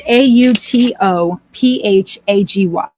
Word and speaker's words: autophagy: It's AUTOPHAGY. AUTO, autophagy. PHAGY. It's pronounced autophagy.